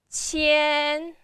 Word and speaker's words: 千: So, 千, first tone, 山, first tone.